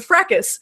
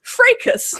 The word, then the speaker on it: fracas: The fracas, pronounced fracas, according to Merriam-Webster, although the British pronounce it fracas, began quietly with a tweet from a Potter fan, blah, blah, blah.